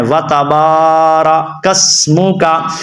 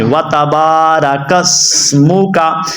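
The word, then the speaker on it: وَتَبَارَكَ اسْمُكَ: کو لمبا نہیں کرتے، تو آپ نے با کو لمبا کرنا ہے، وَتَبَارَکَ اسمُکَ، یہاں پہ آپ دیکھ رہے ہیں سین کو ادا کرنا ہے، سواد کو نہیں، وَتَبَارَکَ اسمُکَ۔ سے بڑی یہ غلطی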